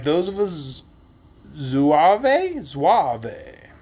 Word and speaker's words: zouave: like those of a zouave. Z-O-U-A-V-E. You tell me how to say it. We're going to go with zouave.